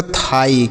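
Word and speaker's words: thigh: इसे हम पढ़ते हैं बच्चों? थाई। क्या पढ़ते हैं? थाई। यहां पर जी एच साइलेंट होता है। इसे नहीं पढ़ेंगे।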